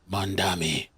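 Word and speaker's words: Mamdani: I I missed out the debate with Cuomo and Mandami.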